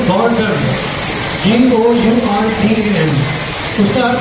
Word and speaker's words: गौरधन: और महाराज जी का जो सरनेम है, सरनेम वो है गौरधन, GOURDN।